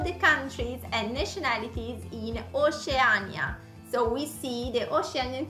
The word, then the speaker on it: Oceania: And how do you say Oceania then in Italian?